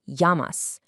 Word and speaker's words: llamas: Well, in Spanish, a double L actually creates a Y sound, so it's pronounced llamas.